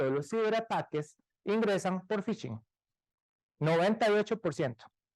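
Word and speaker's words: phishing: veces se generaliza tanto fishing viene la palabra de Fish suena parecido aunque se escribe con p de pescar y y el ing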